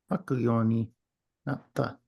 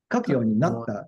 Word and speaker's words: 書くようになった: 書くようになった。書くようになった. Even なった, you don't really have to stress. 書くようになった. Yeah, you don't have to go up and down so much. Just the か only gets stressed.